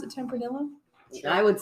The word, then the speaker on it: Tempranillo: Is that how you pronounce it? Tempranillo.